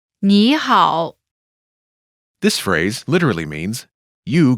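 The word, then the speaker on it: 你好: but translates as hello nihal pronunciation note when there are two third tones in a row the first one changes to the second tone listen to the pronunciation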